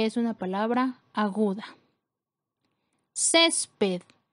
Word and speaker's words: césped: Césped es una palabra que tiene 2 sílabas. La sílaba con mayor fuerza es la penúltima sílaba, cumple con la regla de acentuación porque termina en D, por lo tanto se coloca tilde.